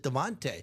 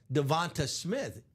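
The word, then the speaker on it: DeVonta: still PE you know it spell devont but he pronounces it Dante but I still hear announcer saying devont Smith he pronounces it Dante that I'm certain of but it's spelled devont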